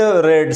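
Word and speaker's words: read: रीड, रेड, रेड spelling तो एक जैसे है लेकिन तलफ़्फ़ुज़ इसका जुदा है. सेकंड और थर्ड फॉर्म के लिए हम इसकी तलफ़्फ़ुज़ रेड कर लेंगे, जैसे RED रेड है.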